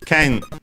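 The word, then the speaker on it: けん: on the last syllable, while ken is accented, so accented on the ke, ken.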